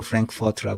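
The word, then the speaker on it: Frankfurt: 국가적인 대손실적률 프랑크푸르트 프랑크푸르트의 이름이 성이 프랑크푸르트에 그 영어 발음으로 프랭크포트 그러는데 평등은 없다 문제는 불평등이 아니라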